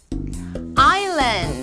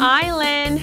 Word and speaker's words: island: 미친토익 포카 S 발음 탈락 Island Island Island Island Isle Isle Isle Isle Debris Debris Debris Debris 다 같이 따라해볼까요?